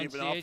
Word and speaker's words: Ivanov: And the next up will be Jordan Ivanov, which I think we've agreed is the Yeah, accepted we go with Ivanov, yeah.